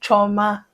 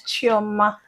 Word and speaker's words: Chioma: My name is not Choma. Oh, My name is Chioma.